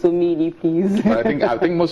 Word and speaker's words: Omeili: It's Omeili, actually. A lot of people misspell that, or misspell and mispronounce.